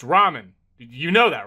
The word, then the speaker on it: ramen: Door Dash is on its way to deliver some Raymen, and I don't want to spill any around the pyramid floors. Uh, it it's pronounced ramen.